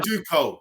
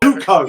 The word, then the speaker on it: Zucco: Zuko. Zuko.